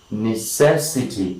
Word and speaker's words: necessity: All right, let us say necessity.